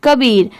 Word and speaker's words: Kabir: यहाँ पर इसकी प्रोनाउंसिएशन का नहीं होगी क्योंकि का को हम लोग इंग्लिश में क्या लिखते हैं? KAA। KA को क्या पढ़ेंगे? क। और BIR को क्या पढ़ेंगे? बीर। तो पूरा मिला देंगे तो क्या हो जाएगा?